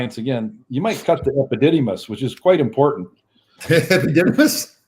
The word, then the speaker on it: epididymis: Now, tell us a little bit what the hypodidymis does. no, it's the epididymis.